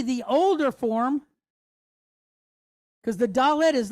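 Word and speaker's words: dalet: going to go to number four, which is dallet. Okay. Dallet. So, it has a d sound for us. has a numerical value of four. Okay. So we see the older form because the dallet is like a doorway for us.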